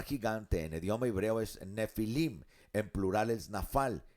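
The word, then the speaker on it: Nephilim: Nefilim en el idioma hebreo es la palabra nefilim, va con pH. Nefilim, pero se pronuncia nefilim.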